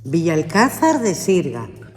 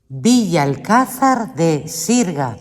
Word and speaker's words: Villalcázar de Sirga: How do you pronounce Villa Cesar de Sirga? Villa Cesar de Sirga. Uno mas. Villa Cesar de Sirga.